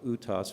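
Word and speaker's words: Uhthoff: condition also we call utos phenomena you won't forget that it's spelled very different than Utah but utop's it just represents especially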